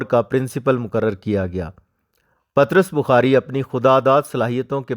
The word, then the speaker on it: پطرس: مصنف پطرس بخاری ہیں۔ پطرس بخاری کو بعض لوگ پطرس بخاری بھی کہتے ہیں، جبکہ صحیح تلفظ پطرس ہے۔ دراصل یہ انگریزی